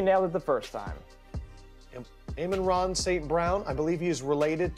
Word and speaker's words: Amon-Ra St. Brown: Amon-Ra St. Brown? Amon-Ra St. Brown? I think you nailed it the first time. Amon-Ra St. Brown.